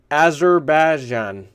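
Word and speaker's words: Azerbaijan: the country let me see if I can pronounce this right azerbajan a z e r b a i j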